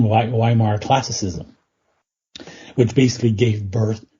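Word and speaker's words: Weimar: associated with what's called viar I pronounce it the German version viar classicism which basically gave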